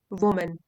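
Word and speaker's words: women: और सिंगुलर इसका होगा डब्लू ओ एम ए एन उसको प्रोनाउंस करते हैं वुमन वुमन प्लूरल हो जाएगा वमन वमन इन मेनी सोसाइटीज आर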